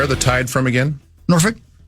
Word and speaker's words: Norfolk: Say it slowly. Norfolk. Mhm. Virginia. That's how it's said. I don't know. I I I know. I I I know that that's how it's said, but you got to be real careful when you just drop that L.